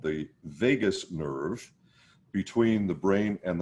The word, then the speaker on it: vagus: through something called the vagus nerve. It's pronounced like Las Vegas.